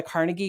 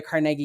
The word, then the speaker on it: Carnegie: And it's generally referred to as the Carnegie or the Carnegie Unit, depending on how you want to pronounce his name.